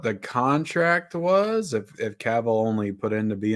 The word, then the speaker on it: Cavill: had three seasons so yeah you know Henry Cavill is that how you say his name yep Capital it's a cowboy yeah Cavill um he has been in The Witcher which